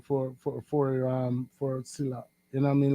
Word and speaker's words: Sillla: Sila in general okay so my name is Sila so my my my my English name is